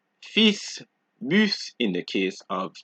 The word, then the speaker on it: fils: However, there are a few exceptions, just a few, such as sud, cap, slip, fils, bus, brut, ouest, huit.